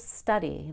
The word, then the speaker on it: study: please study the study now notice that when I say study the second syllable which is a why and it's a long e sound is very quiet and it's low energy but it is still a long a I cannot change study to study that's incomplete it still needs to be a long e it'll just be quieter and done with less energy study study repeat after